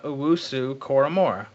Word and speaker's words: Owusu-Koramoah: You practiced it before you got on, and you butchered that. It's Jeremiah Owusu-Koramoah. That's how you say it.